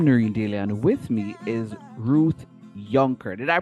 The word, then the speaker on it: Yunker: other people I'm nurindellian with me is Ruth younker did I pronounce that correctly Ruth yes you did okay